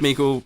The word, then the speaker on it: Meikle: Meikle, Rhymes with Treacle, I really hope that was that enough Australian, or do we think we need more?